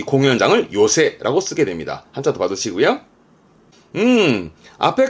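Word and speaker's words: 寄席: 가장 가까운 역, 모요리노 에끼처럼 발음도 중요하고 뜻도 중요하고 시험 때 종종 보입니다. 좌석의 석자죠. 새끼의 새만 씁니다. 그래서 지금은 요새 합니다.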